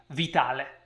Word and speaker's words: Vitale: book by jubitale yes that's an italian name and that's how you pronounce it with an italian accent vitale all right i actually